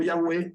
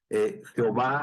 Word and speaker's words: Yahweh: que lo mencionábamos y ese nombre de y hwh bueno quería decir o se pronunciaba como Yahweh o como Jehová ahora nosotros o como ya ve digamos sería como el